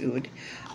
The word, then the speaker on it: oud: an ood fan um oud i'm pretty sure that's how you pronounce it is ood um if you love